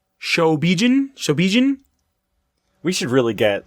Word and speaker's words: Shobijin: I had no clue that they were even referred to as Shijobin. Shobijin. We should really get, like, a pronunciation guide.